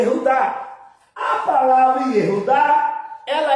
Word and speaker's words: Judá: Na sua Bíblia é Judá, não é isso? Judá, mas no original é Iudá.